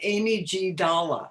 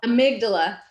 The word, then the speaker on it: amygdala: I was looking at this word and it looks like Amy G. Dalla. Amygdala. Amygdala. Amy G. Dalla, I'm going to call it. And will you explain a little bit about Amy Amygdala again, and what that's